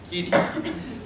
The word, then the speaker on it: Kuthi: We'll start with Kuthi. Did I pronounce that? I know you. Kitty. How do you spell it? How do you pronounce it? Kitty? Kitty.